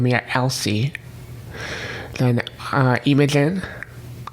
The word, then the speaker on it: Imogen: of elsie then uh imogen which i recently learned is actually imogen as far as pronunciation goes then imagine with an